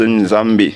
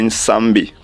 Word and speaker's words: Nyambe: Normalement, on écrit Nyambe, N-Y au départ. Et ça se prononce Nzambe ou bien Nsambe, comme chez les Osananga du Cameroun.